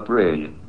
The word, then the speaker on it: brane: The answer may be that we live in a brain world. Your brain is spelled B R A N E.